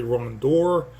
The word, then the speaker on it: rondure: Grandeur has a kind of a start-off sound, jour, to that last syllable, but rondure is actually rondure, and it works.